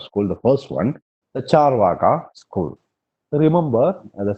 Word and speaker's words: Charvaka: The first one, the Charvaka school. Remember, the spelling of Charvaka is Carvaka, but it is pronounced as Charvaka.